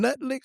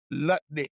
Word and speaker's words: Lutnick: Did you Did you call him Nutlick or Lutlick? Lutnik. Really? I was something else. I just make sure you pronounce that uh that you weren't trying to tell you what I really call him.